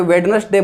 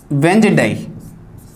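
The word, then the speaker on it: Wednesday: इसको कोई वेडनेसडे बोलता है, कोई वेडनेसडे बोलता है, अलग अलग तरीके से इसको उच्चारित करते हैं, काफ़ी कन्फ्यूजेबल होता है, दिखने में बहुत कठिन भी लगता है, लेकिन बिल्कुल सरल सा है ये। इसका उच्चारण जो देखें हिंदी में तो इसका उच्चारण इस तरीके से होता है, यहां लिख देता हूं, वेंजडे जी।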